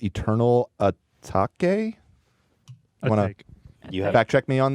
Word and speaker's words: Atake: It's called Eternal Atake. You fact check me on that, Ian? You know how this is pronounced? A take.